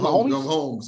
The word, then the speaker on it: Mahomes: Mahomes? Is that how you pronounce the name? Yeah, Patrick Mahomes. Or I call him Mahomes, so that's why.